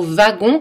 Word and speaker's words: wagons: - trois voyages et attention aux mots wagons qui prononçait avec un vin attention si aoüt suivi